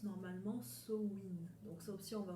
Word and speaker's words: Samhain: mère donc pour ceux qui connaissent ces cris samo same mais ne se prononce pas ainsi et se prononce normalement sowind donc sauf si on va revenir un petit